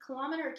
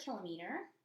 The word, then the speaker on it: kilometer: talk about a centimeter a kilometer kilometer it's pronounced both ways a millimeter or just